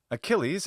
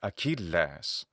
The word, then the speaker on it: Achilles: Achilles is the English pronunciation from the original Latin, which is Achilles. And Achilles is from Achilleus. The modern Greek pronunciation of the name is Achilles.